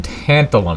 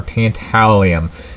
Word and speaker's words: tantalum: gonna be making some some tantalum or tantalium it depends on where you're from how you say it but uh this stuff